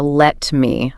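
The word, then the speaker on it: lemme: And the video mentioned the pronunciation, how let me often becomes. Let me. Yeah, let me know. Yeah. L-E-M-M-E.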